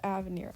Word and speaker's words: Avenir: there's no way in heck her name is pronounced avenir actually let's figure this out i'm pulling up